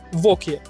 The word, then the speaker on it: Wauquiez: Да, название не самое простое, читается воки.